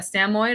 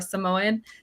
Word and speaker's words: Samoyed: our family dog was a Samoyed or a Samoyed, depending on who you are and how you want to pronounce it.